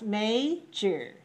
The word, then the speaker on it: major: Pronounce major. Major. Major. Major. Syllable stress code? 2-1. 2-1.